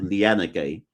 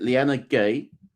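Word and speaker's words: Liyanage: surname is like that, are you supposed to pronounce the E at the end? Cuz I don't think you're supposed to pronounce that E. Have I made that up? I'm not sure that E is pronounced how we think it is pronounced. So, you see how we look at that phonetically and go Lyanna Gay. I think it's Lyanna G.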